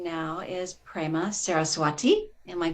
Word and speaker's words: Prema Saraswati: to call you friend her name now is prema saraswati am i pronouncing that correctly yes but i've known her